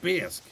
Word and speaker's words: bisque: Wait, ain't it bis? They were pronounced bisque. Bis bis. Oh my goodness. You're going to get fox a corner. Bis. Bis. No, it's just bisque.